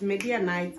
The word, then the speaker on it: Midianites: Meaning that if they defeat the Midianites, yes, it's Midianites. I'm sorry, I did not know how to pronounce it.